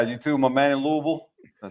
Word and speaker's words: Louisville: Like literally John Gruden got a box of Louisville gear and he was pronouncing Louisville the whole time and the first comment was, "It's pronounced Louisville."